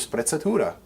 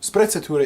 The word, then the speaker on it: sprezzatura: to the concept of sprezzatura this wonderful delicious italian word that just rolls off your tongue especially if you want to roll your r's very important skill sprezzatura is basically or what